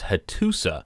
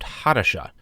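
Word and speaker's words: Hattusa: part one video in that video I was pronouncing the hittite capital as husa but it was pointed out to me since that video it should be more accurately pronounced HHA so I wanted to correct that for this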